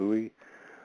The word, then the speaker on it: Uwa: Then the actual word used by the Muskogee Creeks for water is Uwa, I pronounce it Uwa or Ui.